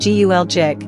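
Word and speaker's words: Gölcük: As many as 10,000 people could still be trapped in rubble around the town of Galkuk, pronounced Gulcik, 80 miles southeast of Istanbul, according to the town's mayor, Ismail Baris.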